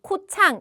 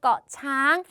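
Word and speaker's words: เกาะช้าง: 이렇게 꺼 섬이 된다 그래서 우리는 태국어를 배우는 사람이기 때문에 앞으로 코란 뭐 코창 이게 아니라 거창 요런 식으로 꼭 섬은 꺼로 발음해 주시면 좋겠죠네 다음 자은 이상하게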